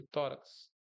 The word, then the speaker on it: tórax: Paroxítona aqui, tórax. Paroxítona terminada em X. Aí tá aqui, ó. Tórax. A sílaba forte é o quê? É a segunda trás pra frente.